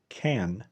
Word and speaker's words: can: كلمة can. can ده النطق الصحيح بتاعها. في وسط الكلام بقى واحنا بنتكلم بنقول can. can. I can. I can skip.